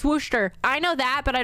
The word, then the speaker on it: Worcester: I just pronounce Massachusetts cities wrong can you pronounce wortherisher or haven hill right Havhill Wooster. It's Wooster. It's Wooster.